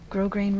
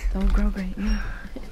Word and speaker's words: grosgrain: Oh, I didn't know that's how you pronounce it. I've been grosgrain. I've been saying grosgrain for years.